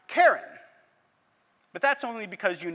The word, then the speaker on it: Charon: hard ch right chaos you would assume quite correctly quite correctly that this word also starts with a hard k and it would be pronounced karen but that's only because